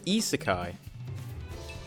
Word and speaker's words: isekai: Oh, the way to pronounce the term is isekai. Isekai. It's just, I got confused because the capital I is the same as a lowercase l.